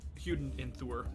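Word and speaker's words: Óðinn and Þórr: by Odin and Thor or technically huden enthur if you want to pronounce it properly but whatever okay let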